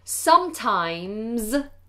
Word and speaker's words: sometimes: Sometimes. Now the S on the end of the word sometimes is pronounced like a Z. So make that more voiced Z.